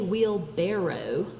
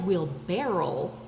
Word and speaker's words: wheelbarrow: yes it is a wheelbarrow even though everybody says we'll barrel wheelbarrow is the correct spelling and the correct pronunciation even though nobody says it that way a person expended 500